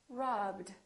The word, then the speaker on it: robbed: stop stopped work worked if the last letter is a vo consonant we add the DU Rob robbed use used okay